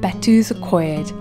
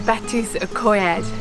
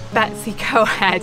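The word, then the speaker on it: Betws-y-Coed: This morning we've come along to Betws Y Coed. Apparently a lot of people mistake it for being known as Betws Y Coed, and I'm hoping that I've not butchered the pronunciation of it.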